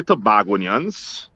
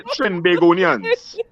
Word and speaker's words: Trinbagonians: Don't say Tobagonians. Fuck. It's just say Trinbagonians.